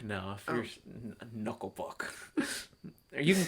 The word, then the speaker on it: Knuckle Puck: Is that how they pronounce it? Kanuklapook? No, if you're Knuckle Puck.